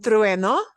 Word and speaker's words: trueno: The reason this is a hard word to pronounce is we've got that UE, and we have to kind of blend that ue. So your lips have to do an e. Go from an u to an e, a smile.